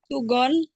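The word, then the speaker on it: 수건: Segan. Gitu. Boleh? Yang pertama apa bacanya? Sugon.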